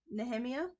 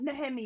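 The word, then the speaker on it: Nehemia: name NE neia neia nemia from that's how I say it nemia nemia okay neia I the for me the H is silent but either way um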